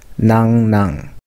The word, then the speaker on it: 樂浪: They set up three commanderies and called Hyeondo, Nangnang, and Taebang. Actually, it's pronounced like Nangnang.